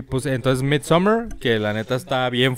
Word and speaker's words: Midsommar: Y no es Midsommar como Summer de verano, es Midsommar.